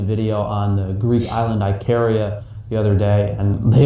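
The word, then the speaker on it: Ikaria: on the Greek island Icaria, Okay, no wait, it's Icaria. Oh, okay, it's spelled differently.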